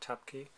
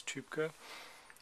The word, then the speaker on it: Tübke: It's not Tapke, it's Tübke.